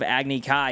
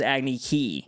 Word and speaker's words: Agni Kai: Instead of Agni Kai, it was Agni Kai.